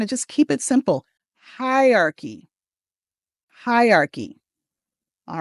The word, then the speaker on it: hierarchy: It's just three syllables when you say it. Even though it's written as four syllables, we don't want hierarchy. Instead, let's say it has three syllables.